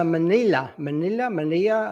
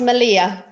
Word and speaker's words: Melilla: it's pronounced Melilla. Melilla. So Okay, the two L's fine. are pronounced as a Y, so Melilla.